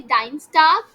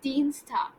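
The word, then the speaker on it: Dienstag: we will not say dine stuff it is Dean Stark c i e is pronounced as e and e i is pronounced as I so let's say if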